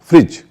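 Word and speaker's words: fridge: और जे हो तो उसका उच्चारण डी का उच्चारण नहीं होता जैसे कुछ शब्दों पर तो आप पहले से ही करते होंगे फ्रिज फ्रिज में एफ आर आई डी जी ई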